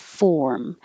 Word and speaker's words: form: when you say them, make sure that when you say form, you're holding your tongue in the R position long enough so that the R can be heard. Form. Maybe you're not holding it while you close your lips for the M.